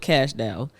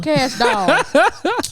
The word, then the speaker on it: Cash Doll: Cash doll. That's how I say Dow. Doll. Say Barbie doll.